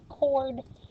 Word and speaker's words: chord: are on the circle it is a chord remember the h is silent all right we're going